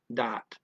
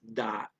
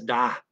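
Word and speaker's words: dat: so they use uh they don't have a th they use a d for that dot okay and the i is said like a european a ah so it's dot instead of that okay but he says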